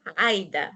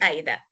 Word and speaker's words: Aida: In Arabic, Aida, not Aida.